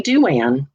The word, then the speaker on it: Douan: band duran duran yeah it's pronounced just like duran duran except if you had